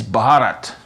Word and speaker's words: Bharat: wobbly bits, and please could everybody pronounce his country the way they say it there, which is Bharat.